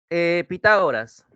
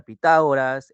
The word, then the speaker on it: Pitágoras: se separa a ver Pitágoras en la palabra Pitágoras Cuál es la sílaba que me presenta la mayor intensidad No te olvides la tilde Cuál será en Pitágoras correcto ta excelente ta en técnica Cuál será